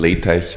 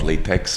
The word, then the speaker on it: LaTeX: Like the same if you ever have written something in LaTeX, then the tech is not latex, but LaTeX.